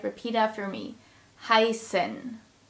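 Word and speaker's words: heißen: set in German and the S sound is pronounced just like in the English word snow so it's a sound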